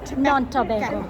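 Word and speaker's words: Nontobeko: Non-Tobago, yeah.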